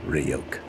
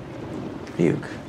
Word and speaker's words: Ryuk: It's pronounced Ryuk. Ryuk.